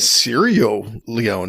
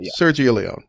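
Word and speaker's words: Sergio Leone: Leon didn't you yeah I definitely left like the G sound out in one anyway you knew it you you knew it Sergio Leon yeah it was a soft G Serio Le oh well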